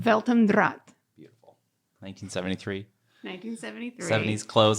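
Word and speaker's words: Welt am Draht: Can you, what's the German pronunciation? Weltendraht.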